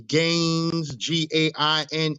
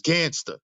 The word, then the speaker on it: GanZzta: People get the name wrong. They call me Gains, Gains. Or they trying to say the name, they say what they be saying? They be saying GanZzta or GanZzta or whatever. It's GanZzta, the GanZzta Lifestyle.